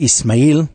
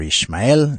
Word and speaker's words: Ismael: Now, tonight's show, which we've called The Line of Ismael, pronounced Ismail in Arabic or Ishmael in Hebrew, it's inspired by Vayera,